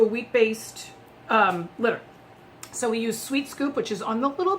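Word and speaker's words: sWheat Scoop: We use Sweet Scoop litter, which is spelled Sweat Scoop. It's spelled SWHEAT, so it's like wheat.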